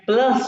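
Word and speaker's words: plus: मैं बताया था ये प्लस जो है ना प्लस की स्पेलिंग वही है लेकिन इसको जम में कहते हैं प्लुस यू को ओ कहते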